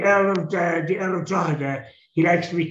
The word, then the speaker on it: Drogheda: She's like the Earl of the Earl of Drogheda. He likes to be called the Earl of Drogheda. Oh, okay. Suppose you don't really say Drogheda, you say Drogheda.